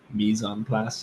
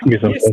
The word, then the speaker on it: mise en place: Lesley Lai: I don't know how to pronounce that. Lesley Lai: Like mass and place? Lesley Lai: It's it's French. So. Owen: Mise en place. I think. Lesley Lai: Mise en place.